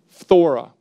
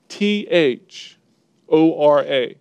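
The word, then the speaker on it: φθορά: now that word corruption is the Greek word thora try saying that one Fedora like here's how it's spelled P H th o ra thora and what it means is used nine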